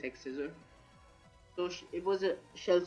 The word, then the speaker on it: X-Scissor: We were bringing the Crustle, holding the White Herb, with Sturdy, Shell Smash, Aerial Ace, Earthquake, X-Scissor or Cross-Scissor, how you say it. I think it is X-Scissor.